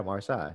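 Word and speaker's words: Marsai: It's spelled M-A-R-S-A-I. Yeah, Marseille.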